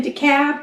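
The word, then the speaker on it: DeKalb: decator decab deur and it's weird cuz it's decab but it's de k a lb yeah or deal but that's not how they say it de Cal decator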